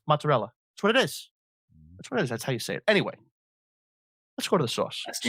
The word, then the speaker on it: mozzarella: For people in the tri-state area, Italians pronounce their vowels. It's not prosciutto. It's prosciutto. That's what it is. It's not mozzarella. It's mozzarella.